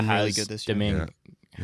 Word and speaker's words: Domingue: Domingue. Yeah. How do you pronounce it? Domingue.